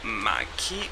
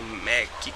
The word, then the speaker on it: MAC: minha Studio Fix da Mike ou Mac como vocês queiram pronunciar aqui na caixinha Deixa